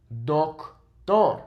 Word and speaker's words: doctor: Doctor. Remember, it's not the, it's o. Doctor.